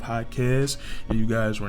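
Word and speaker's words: Jaquez: predicated to him and I kept saying H quz instead of highz and you guys were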